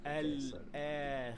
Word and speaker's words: الآخرة: You pronounce lam, then hamza, then an alif with a natural mad of two counts. So there is a mad here. So we say wow, I suck. al-akhirah.